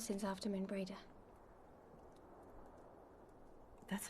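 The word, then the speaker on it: Moenbryda: Not since Not since after Moon Brada. That's how you pronounce her name.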